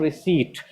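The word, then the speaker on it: receipt: तो रिसीप्ट ना होके रिसीट।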